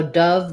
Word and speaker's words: Dove: So Dove the bird and Dove the soap, same pronunciation. This is just a brand name, so it's going to be capitalized. The letter O says the vowel, so it's going to be a stressed schwa, and it sounds basically like dove.